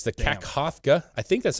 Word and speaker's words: Kakhovka: And it's the Kakhovka, I think that's how you say it, Kakhovka Dam near Kherson in southern Ukraine has suffered severe damage following several explosions.